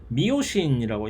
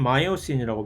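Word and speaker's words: myosin: 자, 운동 단백질이 이 미세 섬유에서는 미오신이라고 영어로는 마이오신이라고 발음을 하는데 미오신이라는 이 단백질을 운동 단백질로 사용을 합니다.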